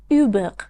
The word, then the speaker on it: Hubert: خیلی برای من هنوز تلفظ اسم هیوبرت توی فرانسوی جالبه. اوبق.